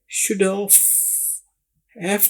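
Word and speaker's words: should have: जब भी शुड और हैव यह दोनों इकट्ठे आ जाए तो अंग्रेज लोग इसको शुड हैव की बजाय शुड ऑफ हैव को ऑफ जैसी आवाज में बोलते हैं।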